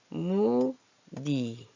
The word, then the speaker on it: 무늬: 얘도 무니 이렇게 소리가 나죠.